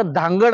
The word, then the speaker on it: धांगड: आहे त्याचा इंग्लिश मध्ये डी एच एन जी ए डी असं जरी स्पेलिंग असेल तरी त्याचा उच्चार मात्र धांगड आहे पण वेगवेगळ्या परिपत्रकामध्ये स्थानिक भाषांतर होत असताना याचा उच्चार कुठेतरी तो धानगड वरन धनगड झाला आणि